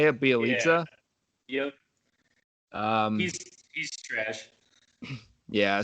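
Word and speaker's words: Bjelica: much nothing, and they got how do you pronounce his name, Drew? It's like Bielitsa, Nemanja. Bielitsa. Is that how you say it, Bielitsa?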